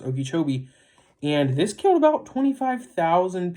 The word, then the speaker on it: Okeechobee: That's how it's pronounced, Okeechobee.